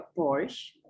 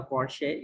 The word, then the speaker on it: Porsche: Porsche atau Porsche gitu ya bacanya. Ini mobil tapi biasanya bacanya Porsche. Kalau she itu biasanya e-nya ada topiknya, ada garis di atas e-nya seperti Beyonce gitu ya. Dibacanya Beyonce, bukan Beyonce. Kalau ini Porsche, biasanya dibaca Porsche karena e-nya tidak ada cukupnya, itu seperti dari bahasa Perancis gitu ya.